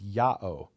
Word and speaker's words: Yao: And then we have one Dead Sea Scroll where instead of Yu Vave, they write it in with the Greek pronunciation which is Yao.